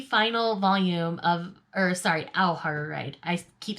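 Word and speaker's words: Ao Haru Ride: lot of fun for me next we have ayoho ride volume 13 which is the final volume of or sorry au har right i keep saying it wrong but this is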